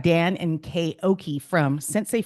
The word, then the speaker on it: Centsei: We've got Dan and Kay Ockey from Centsei Financial. Did I pronounce that correctly? Yes, you did. All of it. Perfect. Yeah, that's good. Yeah, we got that right. Is that a play off of like the Japanese word sensei?